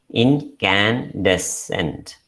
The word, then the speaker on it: incandescent: It is pronounced as incandescent. Incandescent. So the sounds are E, then we have N. So look at that sound K here. So the letter C is written as C, but the pronunciation is K.